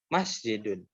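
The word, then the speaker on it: مسجد: Ketika tidak ada yang pendek, maka ditekankan pelafalannya di bagian awal, ya. Bagian awalnya berarti di masnya, ya. Masjidun, masjidun.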